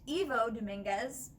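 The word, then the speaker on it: Ivo Dominguez: his name is pronounced evo dominguez not like the letter i at the beginning it's an e sound i have been saying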